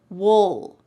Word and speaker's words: we'll: But when we're speaking relatively fast in American English, we often reduce this and it just sounds like wool. Wool. You're almost swallowing that final sound.